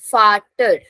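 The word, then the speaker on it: Vater: Then if a word is starting from V, pronunciation will be F. So this word is farter.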